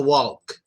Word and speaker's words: walk: In this word, I advise you to stress the L sound so people understand you better. It's an important word because we all use it. So say, I want to walk. I want to walk. Make a hard L sound on this word, please. When you say walk, don't be afraid to make a hard L sound. And then finish off with the K sound.